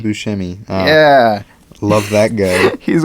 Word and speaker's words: Buscemi: wait where is he my man see Steve Buscemi Buscemi yeah love that guy he's one of my